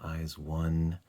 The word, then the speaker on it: IZ*ONE: zodiac um and uh eyes one is the pronunciation in english of the title um they their greeting